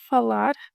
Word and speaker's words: falar: In case you need more practice, falar, falar, falar. A closed A followed by an open A.